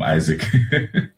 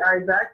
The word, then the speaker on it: Isaac: I've been calling him Isaac. Well, you know, in Spanish it's Isaac. Isaac, okay. It would be Isaac.